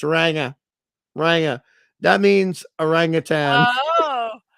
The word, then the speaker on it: ranga: okay it's not ranga just so you don't mispronounce it properly um it's ranga ranga that means aangan oh it's a it's